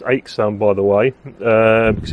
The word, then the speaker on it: Aixam: you a bit later so um aam it's pronounced aam by the way uh because it's in fact